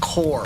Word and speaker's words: corps: astrod dude 87 says corpse without an e is pronounced core yeah we core core